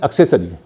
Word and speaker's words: accessory: है आपने देखा होगा एक शब्द है एक्सरी लेकिन अधिकतर लोग उसे एसेसरी कहते हैं अच्छा आपने सुना होगा मैंने तो बहुतों को सुना है एसेसरी वो ये समझते हैं कि जब सीसी होगा तो सही उच्चारण होता है लेकिन ऐसा नहीं है जब सीसी के बाद ई आई और वाई हो तो उनका उच्चार स होगा एक्सरी है एक्सेंट हा